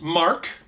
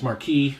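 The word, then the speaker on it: Housemarque: this is by house mark i've in the past i've mispronounced their name as marquis but it's mark they they do next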